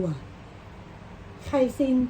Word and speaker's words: 开心: 2 uo เียง 3 อ่าน ว่า ู กั่ ไคซิน k a i เสียง 1 s i n